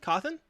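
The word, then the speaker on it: Cawthon: freddy's creator scott uh is it keith and coffin i think it's i think it's i think it's coffin coffin pronounced coffin c-a-w-t-h-o-n i think it's coffin i'm gonna go with coffin so content who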